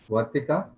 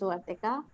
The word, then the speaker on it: Vartika: I'd like to call on the second guest, Vartika, if I've pronounced your name right. Yeah, it was perfect. Yeah. So it is Vartika.